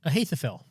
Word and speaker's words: Ahithophel: Ahithophel.